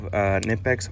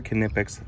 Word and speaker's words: Knipex: I have Knipex or Knipex, whatever way you want to pronounce it.